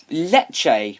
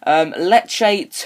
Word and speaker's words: Lecce: Lecce. Is that how you say it? Lecce. Yeah, it's Lecce.